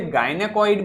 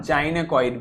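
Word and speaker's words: gynecoid: देखो, इसके दोनों ही प्रोनाउंसिएशन है। इसे गायनेकॉइड भी बोल सकते हैं और जाइनेकॉइड भी बोल सकते हैं। दोनों ही उच्चारण इसके सही हैं।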